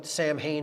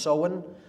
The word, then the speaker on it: Samhain: Pronounced Samhain, it looks like Samhain in English, but it's pronounced Samhain in Gaelic, and that is Halloween, or Hallowmas, October 31st.